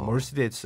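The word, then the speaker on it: Mercedes: 이제이 당시는 이걸 몰랐죠 그래가지고 벤츠 했더니 사람들이 못 알아듣더라 그래서 세데스 하니까 이제 알아들었다 뭐 그런 경험이 있습니다아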